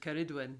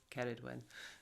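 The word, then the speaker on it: Ceridwen: pronunciation of keridwin um i was reliably informed by my welsh friend karidwin that that's how we say it but i think some people say carried when so and you'll hear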